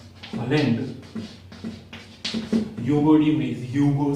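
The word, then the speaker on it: de Vries: दूसरे डीब्रिज साहब थे हॉलैंड, ह्यूगो डी व्रीज, ह्यूगो से एच से याद रखना, इन्होंने काम किया प्रिमरोज पे, प्रिमरोज पर प्रयोग।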